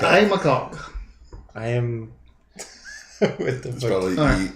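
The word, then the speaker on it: Aodh MacCog: I. McCog. I. McCog.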